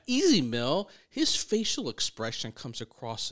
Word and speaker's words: Ez Mil: I only learned how to pronounce Easy Mill because someone told us to pronounce that way. Otherwise, I wasn't sure if it was Easemill or Easy Mill, right?